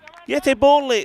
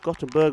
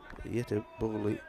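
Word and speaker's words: Göteborg: above the first delivery yeti that's uh how it's pronounced gottenberg royals is how we see it written yet bully is the way it's pronounced so we're gonna we're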